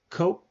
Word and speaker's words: Koch: It's a major conservative advocacy group and it's historically funded and directed by Charles Ko Ko and the late David Ko. Well, it's spelled C O. It's spelled K O C H.